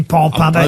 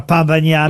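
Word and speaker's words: pan bagnat: On dit pas pain, on dit pan. Oui, mais on dit parfois pain bagna. Oui, parce que les gens qui sont pas de là-bas. Ah oui, mais ça s'écrit P-A-N.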